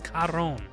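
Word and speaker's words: Charon: sounded so off but anyways his name is karon c-h-a-r-o-n n that's that dude's name we got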